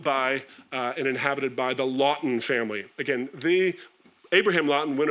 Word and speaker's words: Lawton: The Lawton name is still there, and members of the family still run a brokerage business called Testé et Loto, as the French pronounce it, but Lawton from Cork.